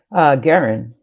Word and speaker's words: Guerin: Stevens, Aaron Parks, and is it Morgan Guerin or Guerin? Guerin. Guerin. Morgan Guerin, yes.